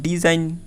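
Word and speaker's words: design: দেখো DES, dish, তারপর IGN এর উচ্চারণ হবে কি আইন, তাহলে ডিজাইন, ডিজাইন অর্থ আঁকা।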